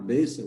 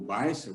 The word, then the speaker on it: Beissel: Esse movimento, na verdade, ele tinha uma estranha combinação liderado pelo Conrad Beissel, ou Beissel, como você queira pronunciar, Johannes Conrad Beissel.